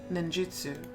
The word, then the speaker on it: ninjutsu: in the ways of stealth ninjutsu may try pronouncing it ninjutsu you don't need to become a shinobi but